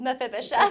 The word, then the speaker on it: Mephibosheth: No, I have heard that story before, and it's just a reminder that, how do you pronounce his name again? Mephibosheth.